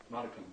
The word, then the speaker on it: modicum: How do you pronounce that word? Modicum. Modum. Modicum.